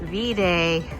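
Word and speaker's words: Viðey: to do a short little Excursion over to VA Island we're going to walk over to the ferry terminal and buy our fairy tickets it's actually pronounced vday according to a tour guy that we bumped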